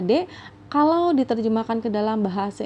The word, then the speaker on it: で: oke lalu yang berikutnya ada partikel D ya ini dibacanya adalah deh kalau diterjemahkan ke dalam